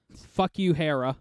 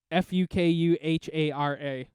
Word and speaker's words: Fukuhara: I really want to pronounce it this way. Fuck you, Hera. I'm sure it's not that. Fukuhara. Oh, Fukuhara? Fukuhara. That's definitely the way you should pronounce that.